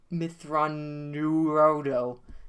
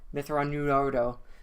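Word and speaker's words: Mitth'raw'nuruodo: other, before, and then, Thrawn says his own names. Says how they pronounce it and shit. Yeah, it's Mithranurodo. Mithranurodo is his full name, but, people just shorten it to Thrawn.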